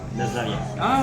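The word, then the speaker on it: Наздравје: Nazdravje. Okay, right, Nazdravje.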